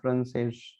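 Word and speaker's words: francês: खत्म हो रहे हैं, और यहाँ पे उच्चारण उसका स नहीं होगा बल्कि श, एस एच। तो हम लिखते हैं एस लेकिन उच्चारण होगा एस एच के रूप में। तो पुर्तगेस लिखा है हमने लेकिन पढ़ेंगे पुर्तगेश, और फ्रांसेस लिखा है हमने लेकिन पढ़ेंगे फ्रांसेस। तो फ्रांसेस भी क्या है,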